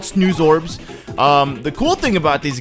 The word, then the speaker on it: Snoozorb: These guys are called Snorbs or Snoobs. Yeah, Snoozorb. Okay, I don't know why I couldn't pronounce that, but they're called Snoozorbs.